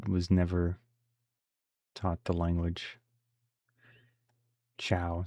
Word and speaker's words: Ciao: Chow, Chow. Okay, rhymes with cow.